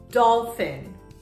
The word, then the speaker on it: dolphin: was psyched to psychoanalyze sometimes the P sounds like an F when the P comes before an H the pronunciation is is f for example phone phone or dolphin dolphin nephew nephew Phyllis phoned